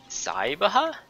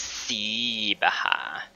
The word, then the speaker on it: Sibaha: hey you let me out of here cyber it's si baja excuse me it's pronounced see baha oh okay um have we met so it's